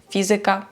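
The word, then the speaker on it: fizyka: пам'ятати і розуміти що іменники які закінчуються на ікка за винятком слова музика ораз Паприка будуть мати наголос не на перед останній склад як більшість слів польській мові а далі напевно вже Вам вирішувати Як вам говорити звикати але правильно казати математика фізика політика мами тутй приклад польська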